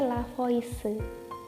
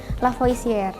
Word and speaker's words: Lavoisier: kekekalan massa hukum kekekalan massa ini dicetus oleh lavoisier Hai lavoisier ditulisnya lavoisier dibacanya itulah Voice yang kedua itu hukum perbandingan